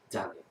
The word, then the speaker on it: Dahlia: My name has a silent H in it? Yeah, Dahlia. It's after the and before the Leah.